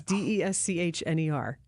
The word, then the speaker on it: Deschner: It's Deschner. So I don't want to mispronounce it, but Kyle Deschner is part of the jazz band and a local musician.